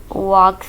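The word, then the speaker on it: walk: वॉक slowly, वॉक slowly, इसमें L silent है।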